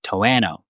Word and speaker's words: Toano: Is it Toano? But then I spoke with a local and it's like Toano.